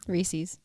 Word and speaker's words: Reese's: apostrophe s reese's it's reese's it's pronounced reeses yeah that's pretty recent